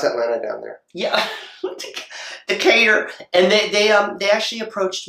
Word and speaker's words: Decatur: Atlanta and it's just oh that's how you pronounce that Lana down there yeah Decatur and they they actually approached me they got